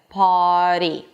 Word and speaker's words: party: So it goes immediately for the flap T. Party.